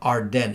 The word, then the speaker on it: AREDN: 10 used to be, no, Arden is spelled AREDN, not Arden like that.